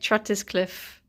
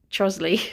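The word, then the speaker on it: Trottiscliffe: It looks like Trotiscliffe, but it's pronounced Trosley.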